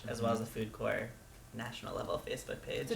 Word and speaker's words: Corps: Well, for starters, there's Food Corps Massachusetts Facebook page, as well as the Food Corps national level Facebook page. So they just search for Food Corps.